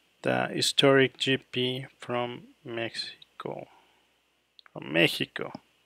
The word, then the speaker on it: México: Mexico. The correct pronunciation is Mexico.